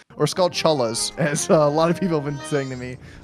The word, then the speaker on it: Skulltula: How do you say that spider's name? Do you say Skullchulla? Skullchulla? Skulltula? Skulltula. Yeah, that's why I always did, with like the T sound.